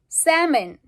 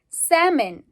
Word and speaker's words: salmon: so that's an example salmon salmon so when we say salmon we don't pronounce the L it's a silence L